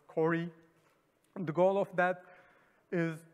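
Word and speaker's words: CO-RE: Sometimes it is like pronounced as Cori.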